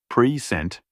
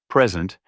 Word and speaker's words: present: For instance, stressing the second syllable in present, like present, can mean to introduce or give, while stressing the first syllable, present, typically refers to a gift or the current time.